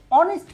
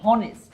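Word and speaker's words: honest: হয়, যেমন ধরো এইচ, এখানে কিন্তু এইচ উচ্চারণ হচ্ছে না, উচ্চারণ হচ্ছে ও, অনেস্ট। আমরা বলছি না যে হনেস্ট।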